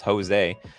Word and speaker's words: Jose: it joe maybe it's i think i've been pronouncing your name josie the entire time when it really it's jose did you see the